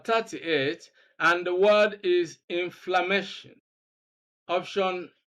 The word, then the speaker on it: inflammation: Words ending in ion, we know that the rule is that we have to stress the second syllable from the end of the word. So when we look at 1, 2, 3, 4, the second syllable is MA. So we are going to look for the option that contains stress on MA.